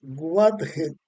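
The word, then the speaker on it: Wadjet: era la mosca eh Wathet. Aquí aquí pronuncio WG de dos maneras o de una manera. W A de aquí, D de dedo, J e dey y t de tomate.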